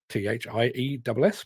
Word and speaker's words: Thiess: Yes, yesterday afternoon I was sent a press release announcing the fact that a mining company, Thiess, T-H-I-E-S-S, pronounced Thiess apparently, had moved 10 million tonnes of material autonomously at its Lake Vermont mine in Queensland, way down under Australia.